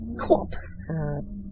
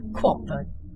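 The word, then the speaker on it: QWOP: same person who made a Flash game named Quap quite a number of years ago. I'm guessing his name was Bennett Foddy from that title there. And Quap was also a joke game.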